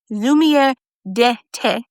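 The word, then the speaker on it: Lumière d'été: And I believe the correct pronunciation of this highlighter is lumiere d'ete. Lumiere d'ete. And it means summer light.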